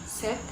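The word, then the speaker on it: ces: Adjektif demonstratif dalam bahasa Perancis terdiri dari se, set, se. Yang terakhir ini pengucapannya sama, namun di akhir kata se ini ada huruf S, namun huruf S-nya tidak dibaca.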